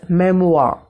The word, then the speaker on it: memoir: The term is memoir. Spell it out, M-E-M-O-I-R, memoir.